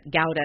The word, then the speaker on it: Gouda: we say Gouda but Gowda is closer because it is actually how does something like that but their campaign was Gowda rhymes with Lauda which if your English